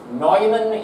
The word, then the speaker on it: Neumann: terms this is what's known as the Von Neumann architecture that's pronounced Neumann even though it's like Jerry you know it's